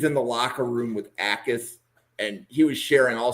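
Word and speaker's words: Jacas: And the J is silent. So it's Gabe Ais. It's a It's not It's not Yakis.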